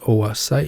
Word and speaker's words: oocyte: ovulated Oh a sight remember it's pronounced Oh a sight you remember that from